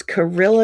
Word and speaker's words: Carilla: It is called, it's Carilla yarn. It's spelled like gorilla with a C.